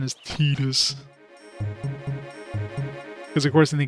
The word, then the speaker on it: Titus: So yeah, that's the official pronunciation is Titus.